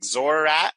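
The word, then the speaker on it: Xoriat: up a gate to, I don't know how to say this one, but it's like Zorat. It's Zoriat. The Plane of Man. Yes, Zoriat.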